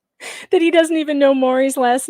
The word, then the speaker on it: Maury: They don't know who Maury Povich is. But who says Mari?